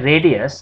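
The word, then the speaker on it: radii: so let us quickly just clarify this now radius we write it like this r a d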